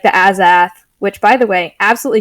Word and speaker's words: Azath: Like the Azath, which, by the way, absolutely shook by your pronunciation. I've heard Azath and Azath, but not Azath. Whatever the fuck you said. Azath.